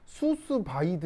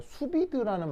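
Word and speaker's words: sous vide: 프랑스 말이 하나가 나오거든요 그냥 뭐 수수 바이드 뭐 이렇게 되는데 이게 영어가 아니라 불어라 그 발음도 그 문제가 나오죠 수비드라는 말이 있는데 혹시이 말 들어본 사람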